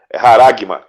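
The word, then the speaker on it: χάραγμα: Qual que é a pronúncia mesmo da palavra? É haragma. Haragma.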